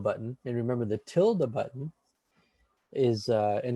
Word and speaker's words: tilde: then you press the tilde button. And remember, the tilde button is, and it's tilde is spelled like Tilda Swanson, I believe, the actor.